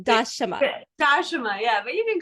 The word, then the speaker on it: Dashama: Just wanted to, my name is pronounced Dashama, but some people call me Dasha if it's hard to remember the pronunciation. So yeah, one more time, Dashama.